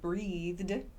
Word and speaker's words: breathed: There's a d sound, a soft d sound like breathed.